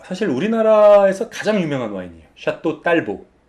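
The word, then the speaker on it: Château Talbot: 와인이라고 해서 중요해진 모양이죠 샤또 딸보 라고 우리식으로 발음 해주시는 됩니다 아 원래 태워 같 샵도 텔 것이라고 발음하는 씨는 분도 있는데 근데 그거는 원래 영국 장군 의 이름을 따서 만든 와인 이기 때문에 그렇게 바르면 하셨지만 프랑스 와인이 때문에 프랑스 식으로 발음 하셔야죠 샤또 딸보 입니다 포항 새 게임 칸코레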